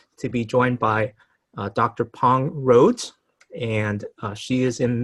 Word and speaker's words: Pang: And so for some of you probably may know me as Dr. Pong, which is the way you would pronounce my name in Hmong. Others of you would know me as Pang, and then others as Pong.